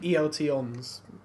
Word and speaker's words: ELTons: ELTons. Oh, okay. But it's not, it's ELTons. I checked. I would never have thought it was ELTons.